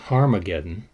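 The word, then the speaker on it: Harmagedon: called Armageddon Revelation 16:16 in the earliest Greek text the name of the place is pronounced harmageddon which is a Greek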